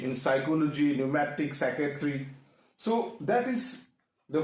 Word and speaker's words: pneumatic: Second is that is न्यूमेटिक, सो वी कैन see find out द silent letter, that is P. In psychology, pneumatic, psychiatry, so that is the point to find out the silent letters in the words.